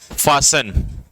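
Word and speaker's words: fasten: तो फासन मतलब टाइट कर लेना, सीट बेल्ट को टाइट कर लेना, फासन, ठीक है जी।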